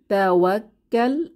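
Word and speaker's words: تَوَكَّلْ: এখানে দেখি তাওয়াক্কাল, প্রথমে তাওয়াক্কাল, তাওয়াক্কাল, আমি বানান করে শোনাচ্ছি, তা ফাথা তা, ওয়াও ফাথা, কাফ শাদ্দা ওয়াক, কাফ ফাথা লাম সুকুন কাল, ওয়াত, তাওয়াক্কাল, তাওয়াক্কাল, তাওয়াক্কাল অর্থ তুমি ভরসা করো, তাওয়াক্কাল।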